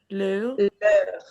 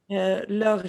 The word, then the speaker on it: leur: How do you pronounce it? Leur. Leur chien.